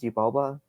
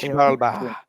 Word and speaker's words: Xibalba: Xibalba.